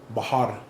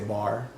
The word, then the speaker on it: Bahar: So like him, his collective will be there, and one of my really close buddies, Yvonne, he goes by Bahar. Not easy to pronounce, but yeah. Some people say Bar.